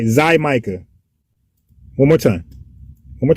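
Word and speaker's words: Xaymaca: Let's get a good pronunciation. 1 second. Okay, Zymica. I had to get it right. Zymica, right? Zymica.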